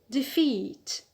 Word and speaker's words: defeat: the noun defeat defeat so the stress is on the alt because we have a long vowel e a long vowel again enough don't look for consonants we just look for the peak so here the stress is on the alt rule one a sorry rule one b number